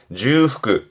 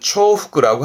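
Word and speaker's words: 重複: 발음은 주후크, 주후크. 요즘은 주후크를 쓰는데요. 간간이는 초후크라고 합니다만 예전에는 초후크를 주로 썼는데 요즘은 주후크. 의미는 같습니다만 근간에는 대부분 주후크 발음으로 기억해 두시면 됩니다.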